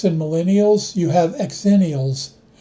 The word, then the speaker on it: Xennials: Between Gen X and millennials, you have exennials. Some people pronounce it zennials. I prefer it the other way, or it sounds too close to zillennials, who live at the intersection of millennials and Gen Z.